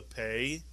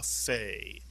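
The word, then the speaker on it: פ: If you take the point, the dagesh, out of the pei, although it's still a pei, it makes an f sound, and therefore we call it a fei.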